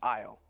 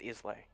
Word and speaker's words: Islay: You would pronounce it Isle, but it's pronounced Islay in Solaran.